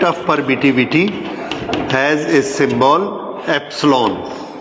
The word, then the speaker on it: epsilon: The measurement of permittivity has a symbol epsilon. How it is pronounced?